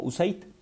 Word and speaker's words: USAID: el Desarrollo Internacional, USAID, que nosotros en México pronunciamos como USAID.